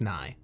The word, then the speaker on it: Nye: to see bill nye so i guess it is ni yeah but it has a y at the end which is why i wanted to say it like that it's n-i-g-h-y n-i-g-h-y i-e that's why i said it like that but it's it's